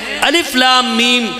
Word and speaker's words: الم: 3 حرف ہیں، لیکن تلفظ کے اعتبار سے ہر حرف 3 حرفوں کے ساتھ ادا ہوتا ہے. تو گویا بعض حضرات کہتے ہیں الف لام میم جب کوئی پڑھتا ہے